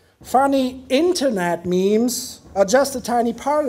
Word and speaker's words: meme: of mematic processes and they call it memes in the end because it's an analogy to genes it's like a little